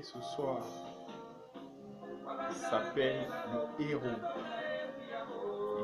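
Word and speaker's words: Eru: Et le mets que nous voulons vous présenter ce soir, il s'appelle le Héro. Il s'écrit E-R-U. Le Héro.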